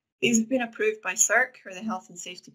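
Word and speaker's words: SSERC: Otherwise, you can consult CERC. So CERC is spelled S-S-E-R-C, and it's an abbreviation.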